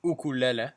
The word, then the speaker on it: ukulele: So I bought a ukulele, an ukulele, is apparently the correct pronunciation.